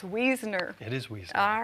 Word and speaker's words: Wiesner: pass along so early used to but it's weasoner it is wheezing all right wonderful all right